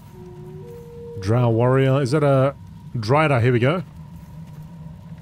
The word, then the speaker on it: drider: Is that a drider? Here we go. Drider rhyming with strider.